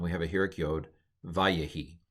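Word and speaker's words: וַיְהִי: Anyway, so we have patak, we have a vocal shva, and we have a Heuric yod, vayehi. Or if you want to go with the old pronunciation, wayehi.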